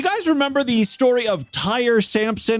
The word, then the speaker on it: Tyre: I'm hoping his name wasn't Tyree, because Tyree would be Tyree, or there would be like a little accent over the E, right? This is Tyre, Tyre. That's how I pronounce it.